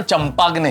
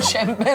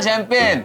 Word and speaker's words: champagne: जो बोतल फोड़ते हैं ना, उसकी स्पेलिंग CHAMPAGNE है। इसका मतलब ये नहीं कि उसका उच्चारण चंपाग्ने है। वो शैंपेन होती है जेठालाल, शैंपेन।